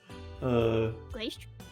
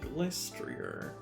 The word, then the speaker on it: Glastrier: That is how we're supposed to pronounce it this whole time? Glastrier? Yeah, Glastrier.